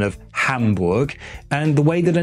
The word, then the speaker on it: Hamburg: Some will go on to tell me that the syllable ham rhymes with the English word hum, but when I listen to native German speakers, that's not at all what it sounds like.